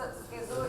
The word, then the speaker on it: schizophrenia: So, schizo is the right pronunciation.